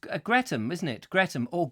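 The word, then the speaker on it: Greatham: Mike Stevens no it's Greta isn't it Greta or great ham as its spelt but pronounced Greta meeee Jeff Kellison says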